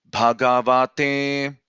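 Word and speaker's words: भगवते: So bha, ga, va. So those 3 syllables are middle tones, and te is up, right? So it is bhagavate, bhagavate.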